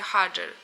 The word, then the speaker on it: Roger: wywodzi się z Brazylii po brazylijsku r wymawia się jako h czyli na przykład Roger wymawia się Hager Hager huger bris on